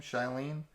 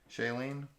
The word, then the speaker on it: Shailene: you say her name Charlene Shailene Shailene Woodley she lean I think yeah from the Divergent